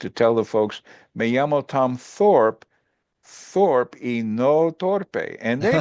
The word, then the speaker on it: Thorpe: see my name and they would pronounce it torpe and in Spanish unfortunately torpe means stupid so so uh they